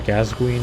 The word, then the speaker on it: Gascoigne: Father Gascoigne is how you say his name.